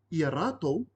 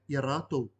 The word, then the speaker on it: iaratou: If you replaced iaraua with iaratou, this is spelled I-A space R-A-T-O-U, this refers to 3+ people. So this is ka inangaro koe iaratou, do you want them, 3 people plus.